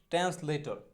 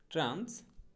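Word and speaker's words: translator: আমরা বলি ট্রান্সলেটর, সঠিক উচ্চারণটা কিন্তু মোটেও ট্রান্সলেটর হবে না, সঠিক উচ্চারণটা হবে হচ্ছে ট্রান্সলেঠা। সঠিক উচ্চারণটা হবে কি ট্রান্সলেঠা, ট্রান্সলেঠা। হ্যাঁ, মোটেও ট্রান্সলেটর না, ট্রান্সলেঠা।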